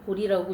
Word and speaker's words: 보리: 어쨌든 우리가 뭐 깨달음을 얘기하는 보리도 그냥 한자 원래 일반적으로 쓰는 음으로 읽으면 보제라고 하는데 불교에서 깨달음 즉 보디를 음사했다고 쓸 땐 보리라고 읽습니다.